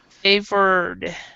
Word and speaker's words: favored: in this one um favor or favored is past tense but you actually don't say the Eed D in it because because it's an R the only time you would say an e d the e sound is because it's a d or a t so responded reflected this one though is favored so you do not say the e at all and what about composed